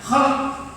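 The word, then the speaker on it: خلق: Kalau tidak ada harokat, kita tidak bisa membedakan kha, lam sama qaf. Kalau kita bacanya khalq, ciptaan, maksudnya bentuk luar. Tapi kalau khuluq dalam bahasa Arab berarti akhlak yang dimaksud sifat dalam hati ini, yang nanti efeknya keluar dalam khalq.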